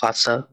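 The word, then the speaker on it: Wasser: তো ডাব্লিউ কে ভে বললেও এটার উচ্চারণটা ভয়ের মতো বাংলা। তো ওই জায়গায় ভাষা লেখা, উচ্চারণ করি চলেন। ভে আ এস এস এ এল, ভাষা। এখানেও আরটা উচ্চ থাকে, যার অর্থ পানি।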